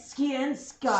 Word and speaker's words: Skiensky: It's Skiensky. Skiensky. Said like it's spelled.